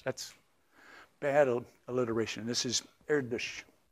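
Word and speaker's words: Erdős: by the way uh the pronunciation that the double slashes on the O is a Hungarian double slash and I'm you're trying to say it erdish and if there are hungarians here you probably cringing with my pronunciation but that's not a that's not like a German umlaut so don't type it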